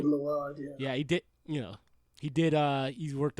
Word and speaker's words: Mylod: Yeah, is that how you pronounce the last name? Mylod, yeah, he did.